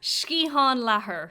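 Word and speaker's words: sciathán leathair: word in english seriously shkihan laher skiatham lethar no shkihan oh my god you sound irish i love it milsian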